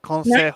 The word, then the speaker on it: consejo: Not Consejo. Joe. No, Consejo. there's no Joe. Like the Because you J pronounce that J as an H, don't you? is pronounced like an H.